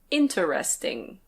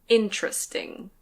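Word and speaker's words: interesting: This word can be pronounced "in-te-res-ting". In-te-res-ting. But usually we say "in-tres-ting".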